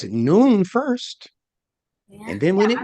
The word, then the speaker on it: nun: me tell you why it's because n-u-n and you pronounce that noon can you say that